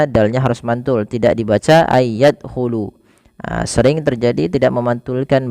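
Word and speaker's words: أن يدخلوها: Kemudian pelafal ay yadkhulu sama ada nun sukun bertemu dengan huruf ya. Maka cara membacanya sebagaimana ayudkaro yaitu masukkan nunnya kepada huruf ya dan bunyi nunnya hilang kemudian terdengar hanya bunyi yanya saja dan ditahan sepanjang dua harakat. Ay yadkhulu.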